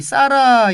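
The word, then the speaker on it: Zara: 나죠 예 근데 그것을 스페인 발음으로 싸라 라고 합니다 싸라 우리 하란 우리나라 발음 이구요 으 싸라 라고 하는데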